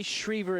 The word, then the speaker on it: Shriver: Yes, the Godfather sent us an email saying, hey, we love the coverage, but you might want to say Shriver instead of Shriver, so we do appreciate that.